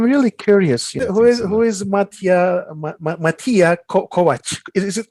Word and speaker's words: Kovac: Who is Matija Kovac? Is it Kovac? How do you pronounce it? Yeah, that's right. You're good with reading our Kovac.